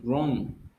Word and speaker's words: wrong: is what's wrong wrong you pronounce only the letter r you don't pronounce the w you don't say wrong what's wrong what's wrong